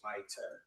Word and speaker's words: Smitter: Okay, next may I have Stacy Smitter come up, please? It's pronounced Smiter.